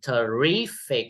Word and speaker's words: terrific: Terrific or terrific or terrific. Yes, terrific. Second. C.